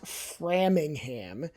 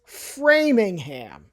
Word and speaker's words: Framingham: Not Frammingham, it's Framingham. The mall is in NIC next door.